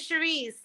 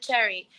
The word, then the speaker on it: Cherise: No, but my name is Cherise, but it's very hard to pronounce in Spanish. And so everybody that mispronounces my name pronounces it Cherry.